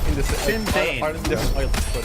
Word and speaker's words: Sinn Féin: The reason why I had no idea what you were saying is because how do you pronounce that? Sinn Féin. Sinn Féin.